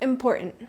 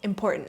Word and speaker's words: important: Next, we have important. This one surprises a lot of English learners. That middle T does not get pronounced. So, it's not important. It's important.